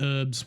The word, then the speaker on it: herbs: I thought herbs was just a Yorkshire thing, calling it herbs without pronouncing the H.